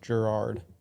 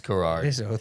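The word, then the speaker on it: David Garrard: man the best quarterback in this class is David Gerard am I looking at that right maybe so he's pronounced Gerard okay it's garage you don't even hear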